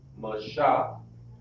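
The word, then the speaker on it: משה: This is the Hebrew pronunciation. Mashah.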